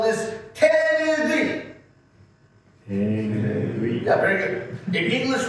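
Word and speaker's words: 手ぬぐい: Especially Japanese people, excellent pronunciation. In English, we call this a fan. In Japanese, we call this tenugi.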